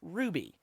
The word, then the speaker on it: RWBY: in the show but that's why it's pronounced ruby because well rwby the closest thing you can say that as in the english language is ruby and ruby is a color so like team cardinal